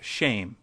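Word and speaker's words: שם: which is the very hebrew word for name which is shem pronounced shame we might as well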